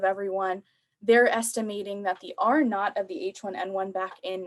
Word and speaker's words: R naught: this little zero, and it's pronounced R naught, and it basically means a number that represents how quickly a contagious disease is spreading.